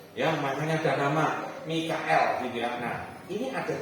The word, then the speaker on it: Mikael: Pada waktu itu juga akan muncul Mikael. Mestinya bacanya gitu, jangan Michael gitu ya. Nanti punya teman yang namanya Michael gitu. Mikael gitu ya.